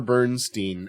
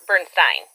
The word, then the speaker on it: Bernstein: So that would be Elmer Bernstein. Nope. It's the other way around. Elmer pronounced his name Bernstein. Elmer pronounced his name Bernstein.